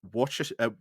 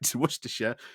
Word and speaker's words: Worcestershire: because oh boy, this I think Worersha here. Again, I've I've looked it up now, so I should be pronouncing it right. Worersha. Why do you have to like spell it like that?